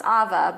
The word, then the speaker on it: Ava: Oh, just so you know, my name is pronounced Ava, but it's totally Ava, fine.